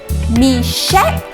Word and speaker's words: Meshach: young men your names are slightly hard to pronounce say with me Shadrach Meshach and Abednego that's right correct okay let's watch